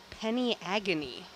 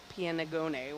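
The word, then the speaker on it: Peniagone: on that sea cucumber it is penny agony is the pronunciation of that not piano gonnae what I was trying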